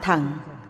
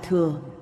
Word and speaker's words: thừa: đến Tam Thượng ô chữ chưa đọc theo cổ âm là thằng hiện thời đọc là thừa cô độc thẳng mọi